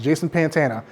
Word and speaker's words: Pantana: It's spelled just how it sounds, Jason Pantana.